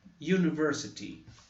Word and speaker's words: university: University. Nós temos uma transcrição fonética aqui, que parece um J, mas tem som de I. University.